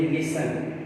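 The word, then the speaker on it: listen: तो ये लिसन, यहाँ पर भी इसको साइलेंट के तौर पर पढ़ा जा रहा है।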